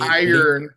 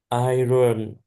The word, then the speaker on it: iron: Um, ordinary vu are like the common metal iron and only iron. Iron. It's not pronounced like it's spelled iron.